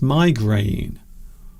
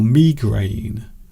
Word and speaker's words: migraine: We describe them as migraine or migraine. So some people pronounce it as migraine. Oh, I have a terrible migraine today. Some people describe it as migraine. Oh, I have a terrible migraine today. A terrible headache.